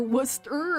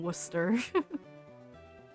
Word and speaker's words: Worcester: It's kind of how you don't pronounce the C in Worcester.